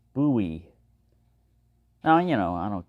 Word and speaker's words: Bowie: was James buoy buoy the name rhymes with Louie not Joe is one of the